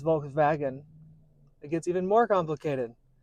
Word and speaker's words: Volkswagen: correct however with Volkswagen Germans do not say W's they put V's where W's are so it's not Volkswagen it's Volkswagen it gets even more